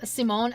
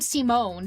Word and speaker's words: Simon: I thought it was Simon. It is Simon. Like the way the name's pronounced and spelled is Simon, but the voice actors calls him Simone.